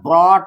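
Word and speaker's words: brought: ब्रॉट के लिए जैसा कि बताया गया था कि बी आर ओ यू जी एस टी है तो इसका उच्चारण ब्रॉट होगा।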